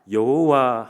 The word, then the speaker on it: 여호와: 아도나이이 모음을 가져오게 됩니다 그래서이 야라는 잠과 아도나이 이 모음을 붙여서 이제 새로운 경태의 발음이 생기는데 그것이 바로 우리가 부르는 여호와 하나님인 것입니다 그래서 우리가